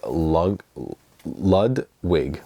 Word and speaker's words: Ludwig: box set this is lud wig lud I think it's Ludwig is how you say it lud's wig but I believe this is